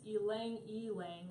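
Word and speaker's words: ylang-ylang: of this word um I've heard like Lang Lang elong elong so it's elang elang I guess it's what Google told me so I don't know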